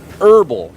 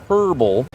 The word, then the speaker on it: herb: Yeah, herbal, not herbal. Watch it, Fluff. Herbal. Not It's herbal. herb. The H is silent, just like in tsunami.